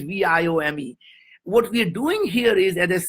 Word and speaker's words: Viome: you know or not indians cannot pronounce the word we right so why would you start a company that you can't pronounce i just fell in love with the name because why the vie stands for life and omics is science as science of life so anyway wyoming is viome what we're doing here